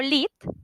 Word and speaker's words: Lihit: de ahí en adelante Me dirán lit porque así me llamo así les dije que se pronunciaba mi nombre y es una cuestión